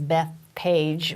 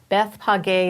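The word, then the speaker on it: Bethphage: called Beit peg a if you read it in English it says Bethpage which sounds kind of weird but Beth paga is really the pronunciation and it actually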